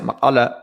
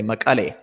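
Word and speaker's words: Mekelle: For example, there's a city in Tigray, Makala, and they pronounce it Makala. Most people say Makale.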